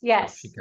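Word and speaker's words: Nakshi kantha: Nokshikatha. No, you actually are pronouncing it quite well.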